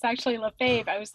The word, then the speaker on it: Lefebvre: problem with it because in my head i'm pronouncing it lefebvre yeah right and for you for a couple